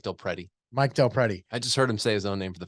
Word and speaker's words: DelPrete: share some stats from how do you say it mike del priety mike del priet you're saying now you're messing me up it's mike del pretty mike del pretty i